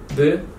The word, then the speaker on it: ب: So one dot, B, two dots above T, and three dots, P.